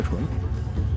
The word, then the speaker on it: 重: 的意思，虽然念成重量的重更顺一些，但是按意思上只能念重叠的纯。